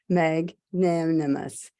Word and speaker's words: magnanimous: Let's break it into syllables. It's mag, M-A-G, mag, N-A-N, nan. The E becomes I. So mag, I, and M-U-S because must, magnanimous. So I'd say the emphasis is on I, so it's mag.